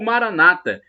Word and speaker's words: Maranatha: que está Speed e Maranatha como dizemos nós católicos é do galeto de Jesus o ar amargou Maranata como dizem os protestantes com a tônica na penúltima sílaba não importa somos todos